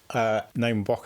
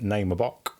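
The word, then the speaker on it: Naima Bock: Name a Bok album. You what? Name a Bok. I think it's Name a Bok. That's how you pronounce it.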